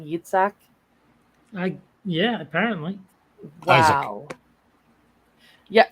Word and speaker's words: Yitzhak: decided on the name Yitzhak? Yeah, apparently. Wow. Isaac. Yeah. I'm just calling him Isaac. It was ISZAC, so that's Isaac. It is. It's Yitzhak, like Yitzhak Perlman.